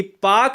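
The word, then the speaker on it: Palk: पाकिस्तान वाला नहीं है यह पाक जलसंधि पीए एल के को हम पाक कहते हैं ठीक है ना इसमें ल साइलेंट होता है मैक मोहन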